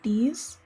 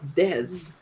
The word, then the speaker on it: Dez: No, they named themselves Dez. These. I can't help but think these nuts every time I see him. They're called Dez, not D's. It's spelled D-E-Z. It's spelled D-E-Z with one E. That's Dez.